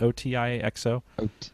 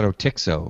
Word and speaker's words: Otixo: We talked about Jolie Cloud and How do you pronounce that? O-T-I-X-O? I call it Otixo.